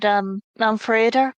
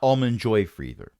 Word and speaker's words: Málmfriðr: It's Málmfriðr. polite to Málmfriðr. Málmfriðr. Málmfriðr. Málmfriðr. Málmfriðr. There it is. Not Almond Joy Friedher. It's that one character that's the problem, and that's pronounced the.